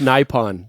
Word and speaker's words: Nippon: It's pronounced Nippon, by the way.